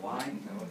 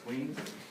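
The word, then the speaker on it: Wiens: Roger Wis or Wine, how to say his name. Wis. Okay.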